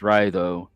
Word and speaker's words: Raido: If you think like the pronunciation of it, Raido, like ride, but they're right, they're correct in that it means like journey.